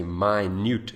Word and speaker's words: minute: word as minute but if you pronounce it differently if you say my newt it means very small so there it is